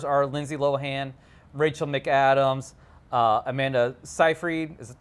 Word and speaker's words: Seyfried: The main stars are Lindsay Lohan, Rachel McAdams, Amanda Seyfried. Is it how you pronounce her name? Siegfried. There's no G in it.